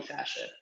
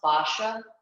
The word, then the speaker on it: fascia: the difference between healthy fascia um and unhealthy fashion now it is pronounced fascia but i think it's so pretentious that i